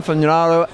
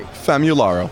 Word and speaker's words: Famularo: Famularo. I'm always saying that wrong. Say it properly. Famularo. Famularo. It's because I say fam.